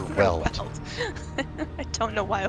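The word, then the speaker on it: Weald: Why do I call it Veld? Why do I pronounce it like a German? Yeah, it's not the Veld in the like African sense Yeah. of Veld. It's the Azure Weld.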